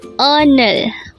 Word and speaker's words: 오늘: the first syllable is O and the second syllable is n again un un again our word for today is UN